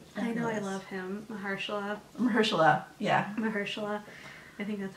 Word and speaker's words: Mahershala: Mahershala, yeah. Mahershala. I think that's how you pronounce it.